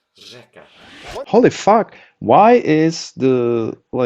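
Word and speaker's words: řeka: The actual letter itself is pronounced ersh, but when you see it in a word, it's It is not r. pronounced differently. You don't see here ersh eka. This means river, by the way. Instead, it's pronounced rzeka.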